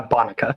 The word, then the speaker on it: Bonica: Uh Bonica. Bonka.